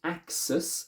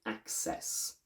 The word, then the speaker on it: access: not ness just e-s-s this e is strong we don't say axis we say access the last point in